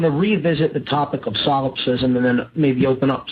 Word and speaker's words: solipsism: And that is the ideology known as solipsism. That's spelled S-O-L-I-P-S-I-S-M.